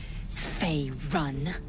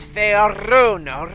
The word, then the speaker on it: Faerun: You will educate me on matters of this Fey run. No. It's Faerun. Rune, like a rune stone.